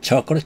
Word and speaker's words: chocolate: We also need eggs and chocolate chip. 이런 문장입니다. chocolate. 영어 단어에서 마지막에 e가 오면은 e는 발음하지 않습니다. 그래서 chocolate, chocolate가 아니고 chocolate 해서 t가 stop t가 됩니다.